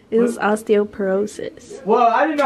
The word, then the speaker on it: osteoporosis: It was osteoporosis. Well, I didn't know how to pronounce it.